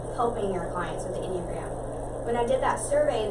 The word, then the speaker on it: Enneagram: It's pronounced Enneagram.